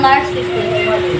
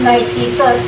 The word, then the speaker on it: Narcissus: In English, we say Narcissus, but the proper Greek pronunciation is actually Narcissus.